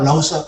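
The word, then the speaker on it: Lao Tzu: Tulisannya Lausu, tapi saya tanya, ini bacanya Pak Lause.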